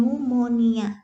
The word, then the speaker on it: pneumonia: selalu Merokok itu ya tulisannya pneumonia Tapi bacanya nih pneumonia pneumonia itu disebabkan oleh